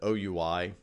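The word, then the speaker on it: OUI: the organizationally unique identifier unfortunately we pronounce that oh you I the acronym I wish we said we but we don't it so you I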